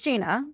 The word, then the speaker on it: Ginna: start running like okay so it's Gina but it's obviously spelled with two ends which confuses people and